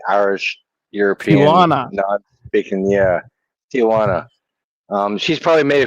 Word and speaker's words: Tijuana: I'm not even going to pronounce that name. Tana. I don't know. I think you guys like to um play around with me. But my name's Tana. It's Tijuana.